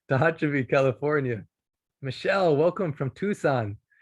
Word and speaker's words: Tucson: california michelle welcome from tucson i know not to say tuxen at least i know